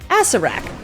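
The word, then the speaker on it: Acererak: Apparently it's pronounced Acerak.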